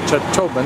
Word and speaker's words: Chacchobben: We now know how to say it, Chacchobben.